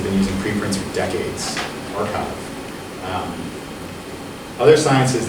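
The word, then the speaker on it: arXiv: It's a bunch of these like blank archives. For those confused by the way archive is spelled, the capital X looks like a Greek letter chi, and physicists are hilarious.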